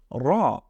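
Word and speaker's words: ر: নেই নুক্তা না থাকার কারণে এটার নাম হচ্ছে র এটাকে আমরা বলছি র আমার সাথে পড়ুন র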